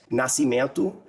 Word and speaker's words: Nascimento: I'm going to go straight to an English pronunciation. So Abdias Abd I A S Nasiman N A S C I M E N T O his works have been translated into English.